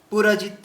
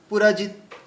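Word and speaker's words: पुरुजित्: তাহলে এই যে পুরজিৎ বললাম, পুরজিতে দেখুন তিনটেই হ্রস্ব চিহ্ন আছে, এই জন্য খুব দ্রুত যেতে হবে। পুরজিৎ, পুরজিৎ।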